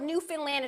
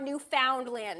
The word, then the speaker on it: Newfoundland: pronounce Newfoundland oh yeah like Newfoundland it's not Newfoundland I can't stand them